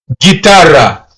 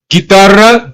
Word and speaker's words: guitarra: So you won't be pronouncing guitarra. you would say guitarra. So it's like you're ignoring the letter U because it does not have the umlaut above.